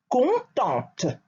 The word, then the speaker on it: contente: Contente for the feminine form. Make sure when you pronounce the feminine form that you insist on the sound of the T. T, T, contente.